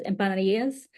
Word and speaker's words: empanadas: I do cook so most people they know it as empanadas but like my Puerto Rican family they pronounce it as impas and so I are